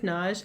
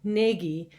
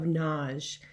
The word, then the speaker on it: Nagy: most people pronounce as nagi but it's a hungarian name and i go with the single syllable pronunciation of naj kind of rhymes with taj mahal another thing about my